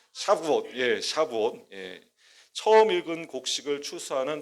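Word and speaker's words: שבועות: 샤부옷. 발음이 참 샤부옷.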